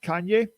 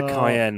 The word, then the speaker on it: Cayenne: bit like the uh the porsche kanye or cyan or whatever you pronounce it kanye you mean the cayenne my dear friends i'm